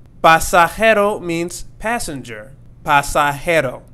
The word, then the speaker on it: pasajero: Pasajero. Pasajero means passenger. Pasajero. And not pasajero.